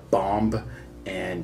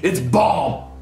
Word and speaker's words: bomb: we'll take this here, bomb, and, Whoa, hold on. What did you call it? Bomb? No, the B is silent. The final B is silent. It's bomb.